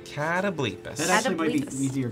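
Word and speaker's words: Catoblepas: rating 5, they fought the ever so terrifying Catablepus. I looked it up actually. I was pronouncing it wrong, as a matter of fact. Because apparently it is in fact a Catablepus. Catablepus.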